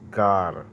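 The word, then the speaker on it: גֵּר: So it's the Hebrew word, transliteration, phonetic, Gar. And if you go to the blue letter, it's going to pronounce it as Gar.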